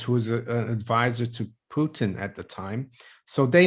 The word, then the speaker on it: Putin: the economic advisers to putin someone said i should pronounce it putin not putin is that back in